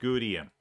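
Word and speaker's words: Gutium: See Gudium right here, G-U-T-I-U-M, pronounced Gudium.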